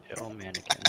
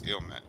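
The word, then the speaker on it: Illmatic: Ilmanic in the I know I mispronounced that. It's Ilmatic.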